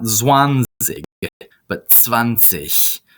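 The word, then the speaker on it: zwanzig: this one see but vanish notice the G at the end of a word C is pronounced like that CH angry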